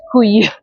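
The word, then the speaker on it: cuy: I think it's pronounced kui which is very funny in French because in French kui is a testicle.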